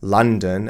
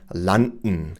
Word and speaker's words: London: So, they just assume, well, this is how we pronounce it in German. This is going to be understandable in English as well. But this is Lon Washington. That's their German pronunciation rules. They're not English pronunciation rules.